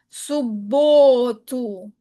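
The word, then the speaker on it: субботу: Las letras dobles, letras consonantes dobles solamente alargan el sonido nada más. Subotu.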